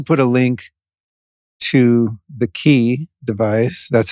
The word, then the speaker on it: Qi: uh we'll also put a link to the key device that's how you pronounce it right like once I get it